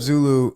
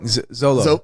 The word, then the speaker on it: Zolo: Well, even leading up to that, when he picks up Zulu in the car. Yeah. Did I say it wrong? Zolo.